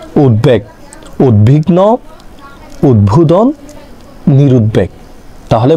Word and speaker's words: উদ্বেগ: উদ্ভাস্তু, ঠিক তেমনভাবে উদ্বুদ্ধ, উদ্বেগ, তার উচ্চারণ কি? উদ্বেগ।